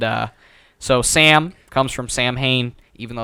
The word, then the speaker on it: Samhain: excited about it okay so the word is pronounced samhain but for some reason especially halloween two does this as well they say samhain which is basically halloween yes basically the original